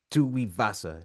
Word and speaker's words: Tuivasa: You know, and even seeing how Derrick Lewis lost to Tuivasa, that's how you say his name.